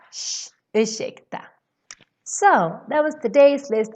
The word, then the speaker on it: ursäkta: Always when you see RS, you pronounce it as shh. Same thing for this word. Ursäkta, excuse me. You don't say ursäkta. No, you say ursäkta. Shh, ursäkta.